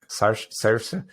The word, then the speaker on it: Saoirse: Saoirse.